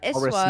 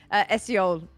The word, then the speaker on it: Esiol: Horace Eswal Milk. Oh, or sorry. Eswal. no, I've said it wrong. Esiol. Esiol. Okay.